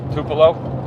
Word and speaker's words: Tupelo: Tupelo.